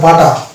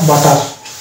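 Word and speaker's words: butter: অনুরূপভাবে এটা হয়ে যাবে বাটা, বাটা, নট বাটার।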